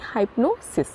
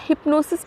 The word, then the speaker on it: hypnosis: सम्मोहन को हम कहेंगे इंग्लिश में हाइप्नोसिस, हाइप्नोसिस, HY, या हिप्नोसिस भी बोल सकते हैं, ठीक है। मैंने दोनों प्रोनाउंसिएशन सुने हैं, तो हिप्नोसिस ही आप बोलिए, HYPNOSIS, हिप्नोसिस का अर्थ है सम्मोहन।